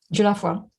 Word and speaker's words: Dieulafoy: And on the other hand, and Rachel, forgive me, I'm not going to pronounce the surname correctly, Dieulafoy? Dieulafoy, yeah.